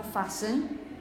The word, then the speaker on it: fasten: are on an airplane you say fasten your seat belts for example fasten yeah for example you listen listen you don't pronounce the T in the middle when you have a